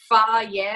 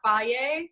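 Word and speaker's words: Fage: It's pronounced Faye or Faye.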